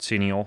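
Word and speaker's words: cineole: see me see me oh that's how you that's how you pronounce that C Neil yeah CI CI n EO le I want to look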